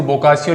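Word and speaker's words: Boccaccio: हालांकि इसको बोकाचियो लिखा हुआ मिलता है, लेकिन आपको बोकाचियो बोलना है, इसको उच्चारण इसका ऐसे ही होता है।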